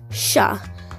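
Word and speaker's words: श: the next one is sha which is like the sh in shell and you start with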